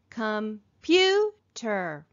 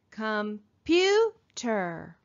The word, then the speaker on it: computer: word so listen carefully computer computer where do we hear the accent computer computer we hear it in the second syllable here's another one fireplace